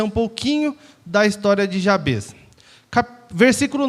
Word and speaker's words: Jabez: Algumas pessoas falam Jabez, mas eu estava dando uma olhada na pronúncia correta, é Jabez, né?